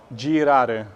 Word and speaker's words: girare: Girare, okay? So the G here is soft because it's followed by a soft vowel, okay?